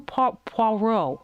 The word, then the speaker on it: Poirot: But for now, this has been the Agatha Christie Hercule Poirot, I believe is the pronunciation.